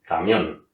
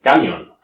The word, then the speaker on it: camión: Es decir, por ejemplo, la palabra camión es una palabra aguda, ¿no? La acentuación recae sobre la última sílaba, camión. Ahora bien, la otra opción de pronunciar esa palabra podría ser camión, ¿no?